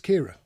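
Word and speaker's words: Ciara: Then we've got one called Farah Kiara. Kiara? C-I-A-R-A. Now, if you're probably Irish, you're going to say it's Kira. If you're English, you're probably going to be stuck and probably say Kiara?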